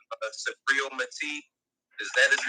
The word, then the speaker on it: Subriel Matias: Like y'all put me on like Subriel Matias. Is that his name? Is that how you pronounce it?